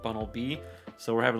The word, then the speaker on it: Bunnelby: And in relation to Gen 6, it kind of looks like Bunnelby, which is not Bunnelby, but Bunnelby.